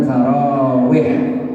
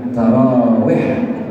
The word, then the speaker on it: tarawih: hari sepanjang bulan Ramadan orang Arab bilangnya tarawih pakai h tarawih masuk Ampera Jadi tarawih